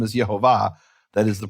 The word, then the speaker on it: Yehovah: Now, I'm not saying this proves Yehovah's name is Yehovah. That is the pronunciation.